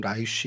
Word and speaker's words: 라이스: 그래서 라이스 성경에 이제 라이스라고 되어 있는데 뭐 히브리 발음으로는 라이쉬 이렇게 되는데 이게 사자란 뜻을 갖고 있고 그다음에 개역 개정 저희가 지금 쓰는 개역 개정엔 레셈이라고 이제 등장을 합니다.